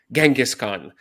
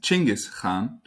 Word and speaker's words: Chinggis Khan: I of course mentioned Genghis Khan, which apparently is not how we say his name at all. So why don't we start there? Yes. So in fact, his name is Chinggis Khan.